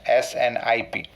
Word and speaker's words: SNPs: SNPs, but here this is pronounced as SNPs, SNIP.